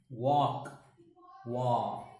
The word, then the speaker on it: walk: w a l k l is silent here a is again pronounced like ah walk walk here ska here wa